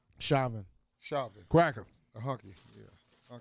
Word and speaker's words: Chauvin: case wait how you say his name shaman chauvin cracker a hockey yeah all right his case